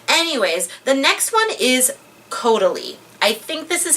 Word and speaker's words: Caudalie: Anyways, the next one is Caudalie.